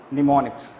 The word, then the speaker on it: mnemonics: In mnemonics spelling M is silent. So that's why we will say mnemonics.